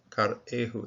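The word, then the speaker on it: כרעו: There's a metech here, which suggests, and I think that's the case, that this Shiva is chopped away from this particular syllable, so it has its own syllable over here. Rather than closing the syllable, it's karehu, and those bending over, bowing over, those.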